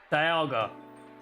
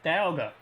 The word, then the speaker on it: Dialga: I can say Dialga. Sen, that you've messed up my brain is Dialga. No. Yeah, Dialga.